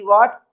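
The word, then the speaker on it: what: डब्ल्यू एच से जो लिखे जाते हैं तो उसमें एच लेटर साइलेंट होता है। जैसे डब्ल्यू एच ए टी व्हाट तो इसको हम क्या रीड करते हैं?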